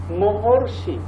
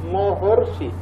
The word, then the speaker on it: মহর্ষি: বাট ওই পাশে যখন তুমি যাবা, মহর্ষি, মহর্ষি মাঝখানে অর।